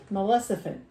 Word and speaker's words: Maleficent: Live action Maleficent. The Oh F- no, that's not how I The pronounce S is it. at the end.